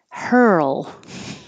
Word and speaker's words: hurl: three syllables syria syria hurl this is like world and girl it's that your tongue is curled back for the r moves to the l position so while you're moving